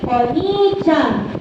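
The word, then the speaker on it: お兄ちゃん: If you have two vowels, dapat longer and longer ang pag-pronounce. Hi, wakalimashita ka?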